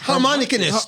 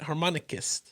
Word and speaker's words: harmonicist: Harmonicanist. Harmonicanist. There's no N at the end of it. Harmonicist. Harmonicist. It's harmonicist.